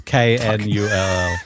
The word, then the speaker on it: Knull: I don't like that his name is spelt Knull. Oh, yeah, there's a K. It's Knull. God That's damn it.